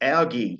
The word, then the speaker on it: ALGEE: And the acronym is ALGAE, a bit like the algae that grows in the ocean, I guess, but it is spelled slightly differently.